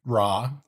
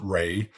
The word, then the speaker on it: Ra: In Egypt, there were gods like Ra, some pronounce it Re, and Osiris.